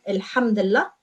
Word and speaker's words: Alhamdulillah: So Alhamdulillah means thank God, and we pronounce it as one word, Alhamdulillah.